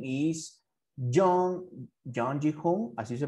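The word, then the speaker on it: Jung Ji-hoon: His real name is John Ji-hoon. Así se pronuncia.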